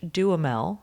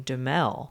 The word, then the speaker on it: Duhamel: Well, for a long time, I was just saying Duhamel. Yeah. But I think it's Duhamel because Timothy Oliphant pronounced it that way when he was on Conan.